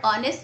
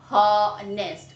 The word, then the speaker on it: honest: H is a consonant word, and this word honest is starting with a word. But we never speak honest. We never speak honest. What do we speak? Honest. I mean to say H is silent here.